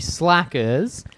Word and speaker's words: Slackers: we're doing the movie slackers at 2002 make sure to pronounce the second s cuz I got confused